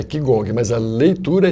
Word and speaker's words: Qigong: Mas se lê Qigong como se escreve é Qigong, mas a leitura é Qigong.